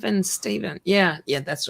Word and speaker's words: Stephen: but yeah, Yes, spelled differently, but well, it's Stephen. Yeah, yeah, that's right. Stephen King is with a PH. Yeah. but it's pronounced the same.